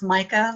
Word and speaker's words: Mika: Mika, what do you see here? It's actually pronounced Mica, like the Mica.